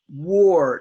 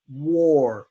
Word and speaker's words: war: word is waa our war now that is an a but we don't pronounce a we pronounce it like an O an open o or war war ok let's continue